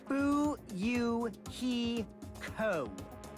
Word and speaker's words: Fuyuhiko: last name is my first name is pronounced boo you he Co I'm still an inexperienced member of my family's